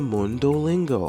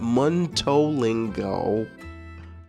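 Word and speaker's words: Mundo Lingo: to be going to Mund lingo again it's not Mingo dummy you know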